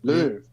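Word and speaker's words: Louvre: Louv.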